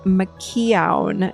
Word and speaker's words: McKeown: So Sandra, you like the book Essentialism from Greg McKeown. Is that how you say it? McKeown?